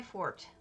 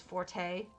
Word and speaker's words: forte: Everyone says forte. It's actually fort when you say it that way. And it sounds terrible when you say it the proper way.